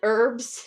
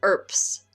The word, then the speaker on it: urbs: The actual pronunciation, as far as we know, of URBS is ERPS, like with a P sound, ERPS.